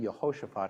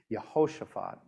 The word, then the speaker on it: Jehoshaphat: Now, you'll hear me saying Jehoshaphat, not Jehoshaphat. I like to pronounce names as much as possible with the Hebrew pronunciation. So there you have it for the many Hebrew students that we have in the room here today. Jehoshaphat, one of the very